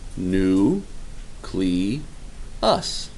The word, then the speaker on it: nucleus: fortunately it is also pronounced exactly the way it is spelled knew CLE us not nucleus no there's